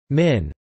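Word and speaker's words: 麵: Each noodle type can be rendered in pinyin for Mandarin, but in Hong Kong and neighboring Guangdong it will be known by its Cantonese pronunciation, min.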